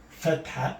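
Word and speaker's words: فتحة: If I put this on top, we call this fatha. I'm going to write it down here. Fatha.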